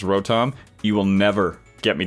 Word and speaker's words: Rotom: I say the name Kirk incorrectly it is pronounced Rotom you will never get me to do it I will always pronounce it rotten that said Leon still gets lost so so